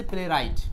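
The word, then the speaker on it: playwright: আর নাট্যকার বোঝাতে ইংলিশটা হচ্ছে প্লেইট। পি এল এ Y play আরেকটা ডাবলিউ আর আই জি এসটি প্লেইট।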